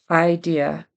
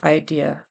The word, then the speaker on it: idea: be Sarah and then idea it definitely is a long I at the beginning of that word so it should be idea not idea first she tried to